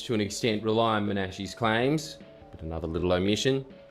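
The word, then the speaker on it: Menashe: I'm pretty sure it's Manashi cuz I actually did a cursory amount of research for my last video in that I Googled how to pronounce it. Manashi correctly pronounce the name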